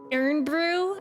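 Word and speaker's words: Irn-Bru: you get oh my God wait this is pronounced ear Brew I think I know kiry always talks about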